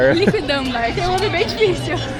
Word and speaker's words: Liquidambar: Liquidambar, tem um homem bem difícil. A gente até perguntou ali como que pronuncia, porque ali anda escrito a gente não conseguiu acertar, mas é liquidambar.